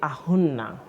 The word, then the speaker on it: Ahunna: So, actually, Auna is how my name is pronounced. It means Auna. Auna. It means the body of the father.